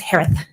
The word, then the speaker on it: Herath: maiden name Sanderson s-a-n-d-e-r-s-o-n last name is pronounced like Harris with a list it's herath h-e-r-a-t-h she is hello